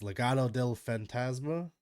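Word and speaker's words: Legado del Fantasma: want to learn how to say it it's Legato Del fantasma yes okay I always feel like I butcher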